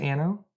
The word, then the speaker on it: Anno: I'm saying it wrong. It's Anno. If you're doing Latin, are you trying to say it? I speak English. Well, then you say Anno. There you go. Anno 1800 is the proper pronunciation.